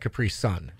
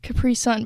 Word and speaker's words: Capri: But you say it's like Capri's son. Yeah. I like to say it's Capri's son because that's how it's spelled.